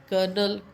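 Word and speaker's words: colonel: Then C ओ एल ओ एन इ एल कर्नल right so there are लॉट of words but the sound and and spelling is totally different.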